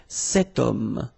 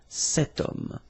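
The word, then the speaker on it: cet homme: this ash letter remember Ash is not pronounced okay so you've got the sound of O at the beginning of this word okay setum so that's the reason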